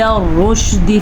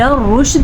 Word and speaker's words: الرشد: الی الرشد میں را پر پڑھی جائے گی اور دال کو بالکل بھی لمبا نہیں کرنا, دال زیر دی کیونکہ یہ صرف زیر ہے, کھڑی زیر نہیں ہے, نہ ہی یا مدہ کے ساتھ ہے.